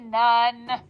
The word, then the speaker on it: none: We have to think known, but we say none.